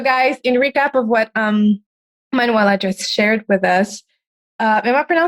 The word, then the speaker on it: Manuela: All right, so guys, in recap of what Manuela just shared with us, am I pronouncing it correctly, Manuela?